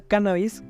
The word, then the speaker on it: cannabis: La palabra cannabis, con acento en la A, la primera A, no solo se emplea